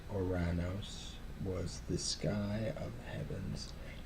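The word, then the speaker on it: Ouranos: Uranus, who preferred to pronounce himself as Oranos, was the sky of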